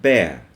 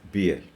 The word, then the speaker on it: bear: us usually it's air this is pear and bear we have a problem here we pronounce this pear often a spear and bear as beer if we pronounce this this is the name